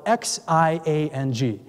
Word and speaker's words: Xiang: He said, "Nestor, just call me Sean, but I wanted to say it correctly. It's spelled X-I-A-N-G. He's from China. I had a hard time, but I got it. So it's Xiang.